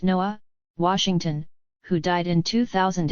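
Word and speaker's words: Nuh: warfare and the voice of N.A., pronounced Noah, Washington, who died in 2000 in a New York prison.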